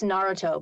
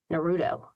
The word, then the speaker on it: Naruto: Like it's Naruto, but lots of people say Naruto. It's not Naruto, it's Naruto, because this emphasis is on the first syllable instead of the middle one, which is what we're used to.